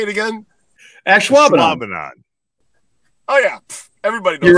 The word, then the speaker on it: Ashwaubenon: Ashwaubenon.